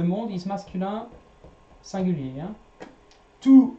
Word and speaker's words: tous: Tous les jours. You don't pronounce the S here.